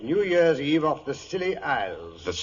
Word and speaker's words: Scilly: Year's Eve off the Silly Isles. The Silly Isles? That sounds appropriate, doctor. The name of these particular islands is spelled S C I L L Y.